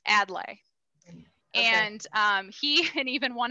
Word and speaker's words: Adlai: a lot of people pronounce it in different ways so adlay add lie we've been told it's adlai and he and even